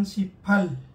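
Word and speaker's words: 십팔: Mag-ingat-ingat po kayo. Huwag nyo pong gawing bito, mga lods. Dahil bad words po sa kanila yan. Kaya dapat ang bigkas niyan siphal.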